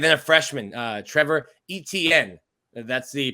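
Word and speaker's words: Etienne: years um and then a freshman uh trevor etn that's the pronunciation i'm proud to be able to say now etn his brother uh plays for the jacksonville jaguars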